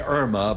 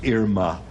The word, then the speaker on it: Irma: Most people say Irma, but really the correct pronunciation is Irma, as in Irma la Deuce.